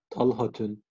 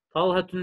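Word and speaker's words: طلحة: Talhatün. Vay. Oktay, teşekkür ederim. Ama ileride gayrı munsarif konusu göreceğiz. Talhatün diye okursan üzülürüm. Tamam. Neden? Çünkü talha kelimesi gayrı munsarif, tenvin almaz. Talhatü diye okunuyor. Talhatün değil.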